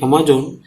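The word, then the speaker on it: Amazon: करते हैं, लेकिन ये अमेजोन इसको अमेजन नदी कहते हैं, इन द साउथ अमेरिका। ये दोनों का प्रोनाउंसिएशन अलग हो जाता है, ध्यान रखना, ये अमेजन नदी है, ये अमेजोन है, दोनों की स्पेलिंग अलग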